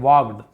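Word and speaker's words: walked: एंड वाक्ड और चले यहां पर भी एल साइलेंट है वल्ड नहीं पढ़ेंगे वॉड सम डिस्टेंस कुछ दूरी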